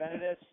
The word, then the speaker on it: Venatus: Am I pronouncing it right? Yeah, you're pronouncing it. It's Venatus.